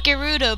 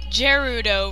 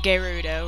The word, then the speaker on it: Gerudo: of peace ganondorf victor the gerudo apparently it's pronounced gerudo but i've been pronouncing it gerudo for like ridiculously long time so that's that's just i don't know i'm trying to get used to saying gerudo rather than gerudo he obtained the triforce from